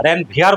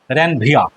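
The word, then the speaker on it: Ranvier: র্যানভিয়ার বলবে না কিন্তু, র্যানভিয়া, আটটা সাইলেন্ট থাকবে, নোটস অফ র্যানভিয়া, ঠিক আছে।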